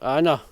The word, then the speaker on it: Avon: it's written lock even but for some reason it seems to be called lock anna i know that's no idea why but it seems to be called or pronounced anna and yet it's written